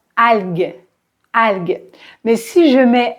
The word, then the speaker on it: algue: Par exemple, vous savez, normalement, G-U-E se prononce G, G, comme dans algue, algue.